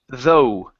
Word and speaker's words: though: instead of the okay the GH at the end doesn't make a sound okay it's though though good it's really hurt